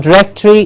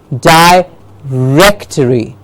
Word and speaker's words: directory: direct and the rectory we hear this very often mispronounced directory yes I'm sure some of us use it some of us have heard it most of us have heard the directory it's not directory it is die rectory the wreck gets the